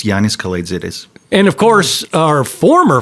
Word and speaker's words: Yiannis Kalaitzidis: It's Yiannis Kalaitzidis.